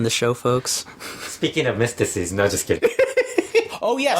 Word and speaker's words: Myzteziz: AAA finally came up with a name for Mystico Sin Cara, and it's mystices. And do you have the spelling on that? I always forget how it's spelled.